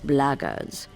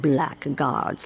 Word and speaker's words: blackguards: foreign foreign if you're another one of those bloggers and that's the way to pronounce it not black guards like that Thug insisted it was then my